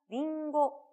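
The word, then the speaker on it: りんご: 역할을 한다 라고 배웠어요 여기서는 밍 고인 데 그쳐 이윤이 가깝지만 약간 코맹맹이 소리를 내면서 링고 링고 라고 발음을 해 주시면 정확한 사과 라고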